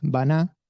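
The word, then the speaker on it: בנה: Edifica en hebreo es baná, construir, ba-na, con acento en la A, B larga, N-A, construir, edificar.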